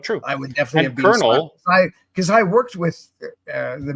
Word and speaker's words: colonel: I would definitely have Colonel, because I worked with the military, and I'm surprised I even said it that way. And colonels are not colonels, even though that's the way it's spelled.